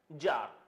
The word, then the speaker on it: czar: Okay, जार, next is जार। First of ऑल the pronunciation is जार, नॉट सीजार और scissor.